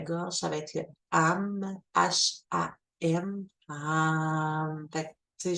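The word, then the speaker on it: HAM: Celui du chakra de la gorge, ça va être le AM, H-A-M, AM. Fait que, tu sais, juste le prononcer, utiliser le chakra de la gorge, c'est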